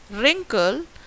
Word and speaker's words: wrinkle: So when I say wrinkle, I'm not saying wrinkle or wriggle or write. So w sound is missing. So we can say W is silent in column 3 words.